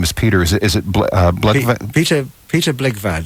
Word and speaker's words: Blegvad: And pronounce his name for me. His first name is Peter. Is it Blegvad? Peter Blegvad. Blegvad.